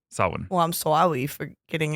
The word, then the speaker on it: Samhain: You might look at it and say Samhein. but It it's according to the Irish storyteller that I heard tell the story just this morning. It's Samhain. Samhain. Samhain.